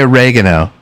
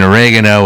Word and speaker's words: oregano: So in oregano, it probably has an accent on the second e.